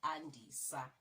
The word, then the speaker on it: Andisa: Let's not change it. Let's just change the pronunciation. So Andisa is commonly a guy's name. But then they were like, okay, let's just say Andisa. Just like that.